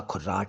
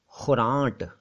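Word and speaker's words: ख़ुरांट: खुर्राट, खुर्राट बोलते हैं ना, असल में वो शब्द था खुरांट। ख के नीचे नुक्ता, छोटों की मात्रा हो, र आ की मात्रा आधा ना या ऊपर बिंदु, और ट, खुरांट। खुरांट नाजल है, मतलब थोड़ा सा नाक से है, खुरांट, लेकिन वो बन गया है खुर्राट।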